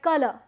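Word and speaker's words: colour: a collar and again it's not color it's color color ra is not realized it is skipped and that's what phonetic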